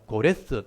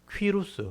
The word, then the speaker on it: 고레스: 그래서 나중에 인터넷 찾아보시면요, 고레스 또는 퀴루스, 원래 이제 발음이 퀴루스거든요. 성경이니까 고레스라고 이제 이름을 놓은 거예요.